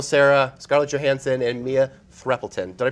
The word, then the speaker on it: Threapleton: Brian Cranston, Michael Sarah, Scarlett Johansson, and Mia Threppelton. Did I pronounce that right?